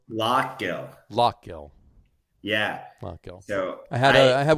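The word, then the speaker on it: Lough Gill: I always screw up the pronunciation. Is it Laughgill or Laugill? Lockgill.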